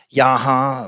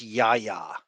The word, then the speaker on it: Yahya: evil ocean master, while Yahya Abdul-Mateen II is expected to play a larger part in the narrative as Black Manta. Amber Heard will also... I think it's pronounced Yaya.